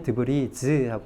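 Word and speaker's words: debris: 대신에 얘는 발음이 똑같은데 드브리는 단수일 때는 발음을 하지 않아요. 그래서 드브리라고만 발음을 하고요. 드브리, 단편, 조각, 뭐 이런 파편 이런 뜻이죠. 잔해 이런 뜻입니다. 그런데 이게 복수형이 되면 드브리즈하고 발음을 해주셔야 돼요.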